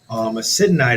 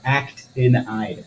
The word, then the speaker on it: actinide: Acidanide is also You say it wrong all the time. Actinide.